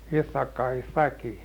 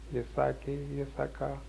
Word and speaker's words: Ithaki: in that little island of Ithaki. Now they call that Ithaca. See how that pronounced in English.